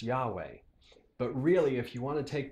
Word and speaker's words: YHWH: But the Germans, in Martin Luther's time, thought it would be pronounced Jehovah. And modern scholars think it might be pronounced Yahweh.